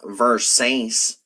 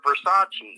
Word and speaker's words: Versace: It's called uh Versaces. Uh Versace, okay.